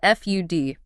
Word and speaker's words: FUD: We actually call this FUD. That is spelled F U D but we pronounce it FUD, rhyming with mud.